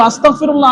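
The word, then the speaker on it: أستغفر الله: আছে যেগুললা ইস্তেগফার ইস্তেগফারের অর্থ এটা না শুধু আস্তাগফিরুল্লাহ আস্তাগফিরুল্লাহ আস্তাগফিরুল্লাহ আবার অনেক সময় দেখা যায় আস্তাগফিরুল্লাহ আস্তাগফিরুল্লাহ পড়তে পড়তে এরকম উচ্চারণ করে ফেলিন হয়ে যায় কাফ আস্তাগফিরুল্লাহ আস্তাগফিরুল্লাহ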